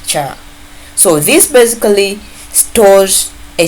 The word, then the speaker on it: char: We pronounce this ch h a r as char.